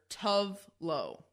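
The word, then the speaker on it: Tove Lo: The way that she says it is very similar to Toblerone. Mm-hmm. But the person in the video with her calls her Tovlo. It's spelled Tovelo with a space in between.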